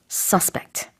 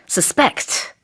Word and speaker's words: suspect: suspect, 이 단어는 지금처럼 명사일 때 내지는 형용사일 때 강세가 앞에 붙습니다. suspect. 근데 동사일 때는요, suspect, 강세가 뒤에 있어요.